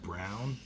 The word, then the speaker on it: Braun: Yeah, give it to Braun again. Yeah, dunk on him again, Braun. Or isn't it Brown? Look, I call him Braun. It's spelled Braun. Yeah. It's not Brown.